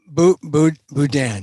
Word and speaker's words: Boudin: Tell me who Bonta and the Bowden, how do you pronounce it? Boudin? Boudin.